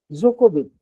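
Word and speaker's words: Djokovic: एक tennis player है Germany का जो है जोकोविच, नोवाक जोकोविच। अब नोवाक जोकोविच के जो स्पेलिंग में आप देखेंगे तो डी जो है से शुरू हो रहा है।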